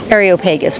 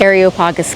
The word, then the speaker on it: Areopagus: All right, we are now heading up to um Areopagus, which is also known as Mars Hill.